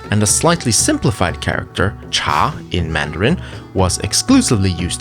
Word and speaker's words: 茶: bitter plants Etc and a slightly simplified character cha in Mandarin was exclusively used to mean tea